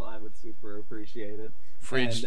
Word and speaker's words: Fridged: Frigid, and as I said, Frigid is spelled Fridged, like that?